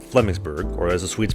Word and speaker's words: Flemingsberg: Now, I spent 2 months playing for a team in the Stockholm area called Flemingsberg, or as the Swedes pronounce it, Flemingsberg, and that would be to Stockholm what Richmond is to Vancouver.